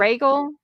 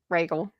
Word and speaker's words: Rhaegal: How do you pronounce that dragon's name? Is it But Rhaegal?